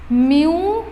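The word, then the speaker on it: mu: मु कौन प्रोनाउंस करी एटा को प्रोनाउंस करी मु म्यू ऊपर है बा प्रोनाउंसिएशन कौन कहली म्यू बा है नेक्स्ट आसला मोर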